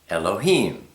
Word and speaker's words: Elohim: Aleph, you can be pronounced A, E, and A. Lamed is pronounced L, the L. He is, the breath. Yod is pronounced E, and Mem is pronounced with an M. So, I mean, if you look at this, Aleph, Lamed, He, Yod, Mem. Al-Ha-im. Elohim.